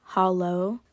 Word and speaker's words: Halo: Uh, this is Holo spelled like Halo, H A L O.